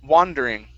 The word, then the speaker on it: wander: the word wander okay instead of wonder wondering okay it's wandering wondering one more time